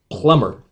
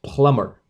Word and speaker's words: plumber: Plumber. B is not pronounced. Plumber.